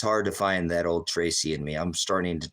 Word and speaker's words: Tracy: guano crazy but uh my name is Tracy and that rhymes with crazy and Spacey and so I've always